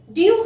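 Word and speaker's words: d'ye: Generally, it should be pronounced like do you.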